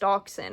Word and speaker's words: dachshund: Why am I finding out at this point in my life that this kind of dog is pronounced dachshund?